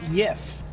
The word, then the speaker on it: Jeff: Stunt Granny would like to mention that it's pronounced Yif.